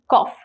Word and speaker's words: cough: or cough see it is cough it's not cuff it's cough k-a-w-s-w-f is correct pronunciation that is k-a-w-f cough right is cough now next is what